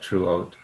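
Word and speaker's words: teruot: We don't really pronounce the E, so it's more like truot.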